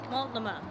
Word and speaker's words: Multnomah: Multnomah. And we're Mul- saying that proud because we figured out that the T is silent.